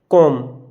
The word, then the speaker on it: comb: अगर आपको एम के बाद में कहीं बी दिखे तो वहाँ पर एम का उच्चारण नहीं करते। ये इंग्लिश का रूल है। एम के बाद में आया बी साइलेंट होता है। जैसे हमने लिखा ये कॉम, लिखा COMB, कॉम्ब लिखा हुआ है आपको कॉम, लेकिन ये पढ़ते हैं हम कॉम। क्यों? ये इंग्लिश का रूल है। अगर एम के बाद में